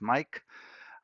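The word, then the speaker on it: Maic: All right, so for those that needs to send computers, just look for Mike Diagnostics, and that's how my name is spelled, M-A-I-C, sounds as Mike.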